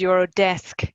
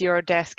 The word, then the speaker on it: Eurodesk: very correctly corrected me it's actually the pronunciation is you're a desk and so I've just read that wrong so apologies you're a desk if you want to